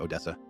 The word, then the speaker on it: Odessa: You know, what's in Odessa?